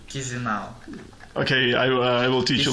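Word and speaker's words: Chișinău: It is the capital of Moldova is Chisinau. No, wrong pronunciation. Chisinau.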